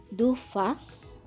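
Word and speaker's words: dauphin: Like dufa, which means dolphin. Here, N is silent, and you will see many letters which will be silent in French language.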